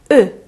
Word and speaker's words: eux: 발음 은 "Eux" 이고 , 여성 복수형 은 "elles" 입니다 .